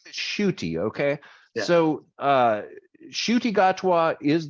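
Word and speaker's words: Ncuti: pronouncing this right because i've never actually heard his name shooty okay now in looking at the way his name is spelled i keep wanting to call him cutie gatwa okay but i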